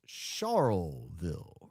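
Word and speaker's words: Charleville: had a giggle yesterday at your pronunciation of Charlville. It's Charlville.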